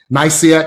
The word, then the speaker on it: Nicaea: Nicaea, thank you.